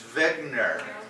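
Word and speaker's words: Wegener: So, Wegner. Or, Wagner? or if you're German, it's Wegner. Because the W gets a V sound.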